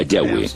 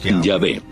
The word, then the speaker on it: Yahweh: De acuerdo con una de las explicaciones, Abraham conocía a Dios por su nombre más íntimo y personal, que normalmente se pronuncia Yahweh, Yahvé.